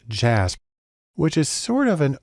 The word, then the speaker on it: JASP: has developed a program called jasb it's actually pronounced jazz which is sort of an open source version